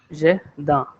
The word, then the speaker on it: jardin: If I give you one phonetic, the pronunciation is like jardin.